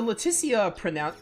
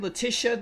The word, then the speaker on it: Laeticia: game I feel like a lot of people like the latissa pronunciation like changes like Raymond just said Letisha there I I think um I think did I don't remember it's been like a year and a half but I'm pretty sure all the characters say her name differently it's really annoying I